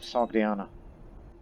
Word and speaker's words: Sogdiana: Because that's not a proper part of Sogdiana. Or Sogdia as the alternate pronunciation.